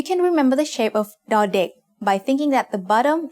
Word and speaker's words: ดอเด็ก: As the initial consonant of a syllable, ดอเด็ก makes the sound d, just like the letter D in diamond.